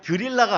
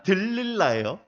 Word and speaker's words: 들릴라: 정확히 얘기하면 드릴라가 아니라 들릴라예요. 발음 되게 힘들지만 들릴라입니다.